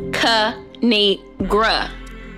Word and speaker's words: Kinigra: me tell y'all a thing of three it's pronounced C NE gr now subscribe I cracked myself up thanks for